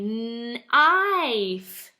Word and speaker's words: knife: It is a knife. Magic-y word here. Knife. The K says nothing. The K is silent.